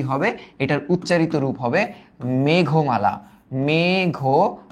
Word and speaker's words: মেঘমালা: এটার উচ্চারিত রূপ হবে মেঘমালা।